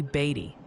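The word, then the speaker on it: Beattie: Oh, and quick tip from the chat pronunciation police. Beatty. Kansas was apparently Beatty.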